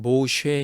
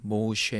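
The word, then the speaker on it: מֹשֶׁה: 내어 씀 이라 하였더라 모세 라는 이름의 히브리 발음은 뭐 셰 입니다 뭐 쉐 에 영어로는 모드 s 이렇게 말하죠 이 말은 물에서 건져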